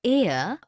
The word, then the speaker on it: heir: an honest an hour because the words air honest an hour begin with a vowel sound as the initial consonant H is not pronounced article 1.